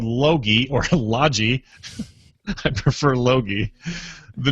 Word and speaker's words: Logi: most important question though hard G or soft G and I was thinking laagi or Lodgy but now logi yeah I wonder if they